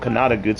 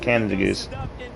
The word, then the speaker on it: Canada Goose: just stuck so because it's not it's not called kanata goods it's called canada goose not at all but